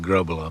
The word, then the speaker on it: Grobbelaar: Here in Britain, you call it global because it's easier for the English pronunciation, you know, to come around. But, uh, really, it's get the the back of the throat going and roll the Rs for the the Dutch way of doing it.